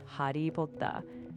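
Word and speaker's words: ハリー・ポッター: In Japanese, Harry Potter is pronounced Hari Potta. They extend the vowel, so Hari for Harry and Potta for Potter.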